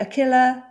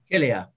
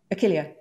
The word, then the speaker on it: Achillea: Achillea? Achilla? Achillea. Achillea.